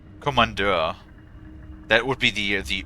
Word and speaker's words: Kommandeur: Kommandeur. Also, it's not spelled with C, it's spelled with K. Kommandeur.